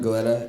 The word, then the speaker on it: Gilletta: Is it Gilletta? Is that how you pronounce it? Gilletta, everybody. Hi, my name is Gilletta, and this is a story called Zompire, the Old Friend.